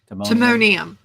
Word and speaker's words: Timonium: the city always catches me on that one Timonium Timonium yeah I mean sometimes they call it Timonium State fairgrounds and then you call it the